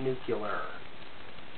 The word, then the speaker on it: nuclear: we're looking for using nuclear materials and yes it is nuclear not nuclear for those of us